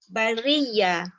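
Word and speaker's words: البريئة: Cara bacanya sama, ibdalkan hamzah itu kepada huruf ya. Jadi berlaku 2 ya. Kita idghamkan yang pertama itu ke dalam ya kedua, jadi bunyinya bariyah.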